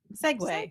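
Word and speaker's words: segue: make sense s -g-u-e Segway Segway yes I'm sure people would read that one wrong uh he didn't spell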